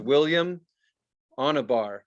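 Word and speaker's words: William Onyeabor: So his name is William Wanabar. It's spelled Onyebor.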